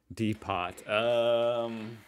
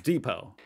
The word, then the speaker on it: depot: 32 is Depot. Which here is, it's depot. Do you say depot? Depot, yes, so yeah. Americans, we pronounce it depot.